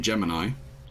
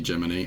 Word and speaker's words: Gemini: And it's spelt Gemini, but it's definitely Gemini, and he is a cricket.